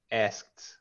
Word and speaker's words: asked: Don't pronounce the E on the ED. It's a T Just sound. Asked, watched. asked. Uh-huh. Watched. Right, right. Oh, in watched is a T sound. The ED has a T sound or D sound.